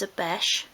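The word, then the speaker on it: obeche: Now this is a beche, that's spelled O-B-E-C-H-E, but for this project you could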